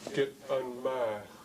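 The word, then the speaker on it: Gitanmaax: And you notice that in the way it's pronounced, it has Git people, unmax. Git unmax. But if we were to write the apostrophe immediately following the T, you would pronounce it as Git unmax. And that's not the correct pronunciation. We want to indicate that what follows the T is a glottal stop. It's the apostrophe when it's the glottal stop.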